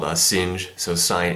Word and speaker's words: sinh: it's also called a sing so sin H uh of the variable X so uh just pronounced sing of X and uh the derivative